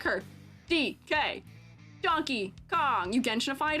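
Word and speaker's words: Dikke: you guys told me her name is pronounced DK DK yeah DK but I pronounced her name dyky as if she is um Greek question mark um I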